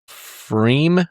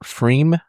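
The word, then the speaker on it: Pfriem: There's a P on the front, but I'm guessing it's silent like pterodactyl. Pterodactyl. Yeah, I think they're in Oregon. What is it? Freem? Yeah. F-R-I-E-M. P-F-R-I-E-M. Freem.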